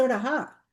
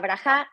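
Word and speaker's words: ברכה: Pero no digo brahá. Pero yo he escuchado que todo el mundo dice braá. Está mal. Okay. Está mal. No se dice porque la braja, la brajá se dice cuando yo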